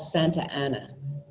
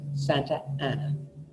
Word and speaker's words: Santa Ana: you run them together there's a town south here called Santa Ana and that's how I pronounce it Santa Ana the plenty of people from there call it Santa Ana to my ears Santa Ana start sounding like Santana felt bad I'm not